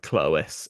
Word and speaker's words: Clovis: So Clovis should really pronounce something like Clois anyway, which is, again, we're getting closer to Clois.